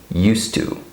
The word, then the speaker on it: used to: It sounds just like I'm saying this without the D, right? I just say used to. For example, I used to go there. I used to go there. You hear that? So this is pronounced used to, okay?